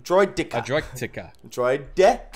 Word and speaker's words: Droideka: Droidika. A Droidka? Droidika. A Droidtika. Droideka.